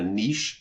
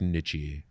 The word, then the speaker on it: niche: I'm a I'm a niche internet personality and I'm very happy with it again I'm I never thought any of this would happen I think it's pronounced nichy but that's fine nich very nichy uh